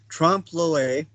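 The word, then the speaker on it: trompe-l'œil: this this is there's a french term called trump loy it is spelled correctly in your textbooks and that's that's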